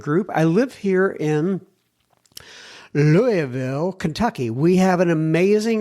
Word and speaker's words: Louisville: He says when you say Louisville, you go Louisville like I can't even get it right. It's like you he says you kind of slur the word Louisville.